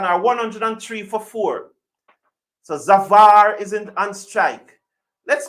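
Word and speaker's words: Zafar: what is a Safar zavar zfar z a f a r how do you pronounce that zavar so zavar zavar BS to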